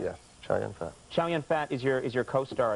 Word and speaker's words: Chow Yun-Fat: Yes, Chow Yun-Fat.